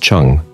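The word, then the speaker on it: zheng: Chi pronounced Chi and direct attacks called Chong pronounced Chung at just the right times with great discipline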